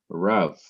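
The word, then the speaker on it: רב: the accent okay so this one syllable word RAV shows us that there is no accent symbol there but it still has the accent the next word is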